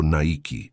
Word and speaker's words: Nike: Jeff Johnson sugirió Nike, pronunciado Nike en inglés.